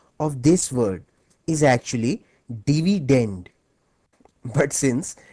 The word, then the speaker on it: dividend: as dividend by the way the correct English pronunciation of this word is actually dividend but since divident ranks better with divisor thus the students prefer